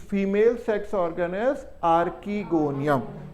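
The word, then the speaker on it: archegonium: और ब्रायोफाइटा से लेकर जिम्नोस्पर्म्स तक the female sex organ is आर्कीगोनियम। बहुत लोग आर्चीगोनियम भी कहते हैं, बट it depends upon how you pronounce. So I call it एज आर्कीगोनियम।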